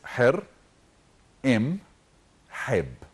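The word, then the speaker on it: Hor-em-heb: his name is okay his true name is her m HEB so people have the right to pronounce it wrong if we say her is like Horus so hair is the ancient Egyptian word for the Falcon and M is in in hieroglyphs and HEB is feast I like that don't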